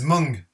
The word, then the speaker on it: Mung: This is Mung. That's how this is pronounced.